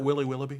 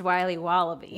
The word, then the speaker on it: Wiley Wallaby: Can I have a piece of that Willy Willoughby? Wally Wibbly. Wiley's Wallabies. Wallaby Wallies? Wilby Wobbaby. It's pronounced Wiley Wallaby. Well, it's very good. It's called Wiley Wallaby, and it's delicious.